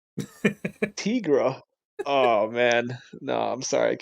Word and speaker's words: Tigra: careful about that because apparently it's supposed to be Tigra and that just bothers me because I think it's like a white woman Uh, from Minnesota or something and I'm like, nah, that's Tigra.